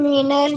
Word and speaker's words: meiner: Ma'am, in Miner Barufa, the pronunciation is coming I, but there is A. ये यहाँ पे ना एम ए उमलाउट है ना, Yes, ma'am. तो इसलिए मेनर ऐसा कर रहे हैं हम लोग, मानर नहीं बोल सकते क्योंकि ए